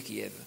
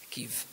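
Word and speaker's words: Kyiv: mi ha detto, dice, non dire Kiev, quello è russo, Kiev, pronunciano nella nostra lingua.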